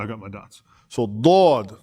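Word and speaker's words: ضاد: So Dad, right? Dad is not the same as Del. Del, right?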